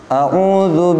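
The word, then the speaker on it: أعوذ: Di lafaz hamzah a dan ain u itu berbeda. Hamzah itu tenggorokan bagian bawah, ain tenggorokan bagian tengah. Bahkan berarti bacanya bukan au tapi a u.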